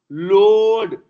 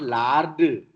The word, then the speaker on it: Lord: Lord, not lard.